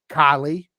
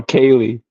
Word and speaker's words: Kaylee: be proper so uh Kylie did I say it right no Kaylee Kaye oh man see hard